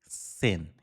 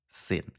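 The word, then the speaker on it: zehn: এখানে জি দিয়ে জার্মান কথায় কিভাবে লিখে? জেন। জি দিয়ে লেখে, রাইট? জি-ই-এইচ-এন। ওকে? কিন্তু উচ্চারণের ক্ষেত্রে আপনাকে সবসময় আ সেন এরকম বলতে হবে। ওকে? জার্মান ভাষার যে জি এর যে উচ্চারণটা এটা অ্যাকচুয়ালি সি এইরকম কিছুটা।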